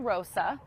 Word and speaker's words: Mama Rosa: Her name is Mama Rosa, which rhymes with tossa.